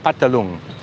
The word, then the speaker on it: Phatthalung: Phatthalung, or it's sort of spelt Phatthalung, but it's pronounced like a lot of things in Thai, the pa sound. Phatthalung.